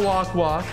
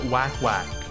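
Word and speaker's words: Wakwak: abyss yeah cool and it's not walk walk Prince of Persia Tomy the correct pronunciation it is in fact wack wack so let's go over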